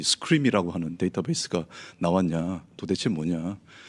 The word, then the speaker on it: SQream: 솔루션 이름을 SQRIM이라고 읽습니까? 아니면 어떻게 그런 질문을 한 100번은 받은 것 같은데 네, 스크림이라고 읽습니다. 누가 봐도 어떤 SQL과 관련이 있는 것으로 보이죠.